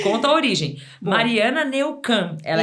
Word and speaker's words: Neukam: É Neucan mesmo, você falou certinho. A grande maioria das pessoas erra, então fala Neukman, todo mundo erra, mas você falou super bem.